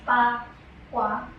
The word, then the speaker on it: bagua: So the bagua, it's actually pronounced pa-kwa, because in Chinese one.